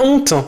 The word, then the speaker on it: honte: Par contre, on doit dire les haricots ou la honte en faisant une pause et en prononçant le H aspiré.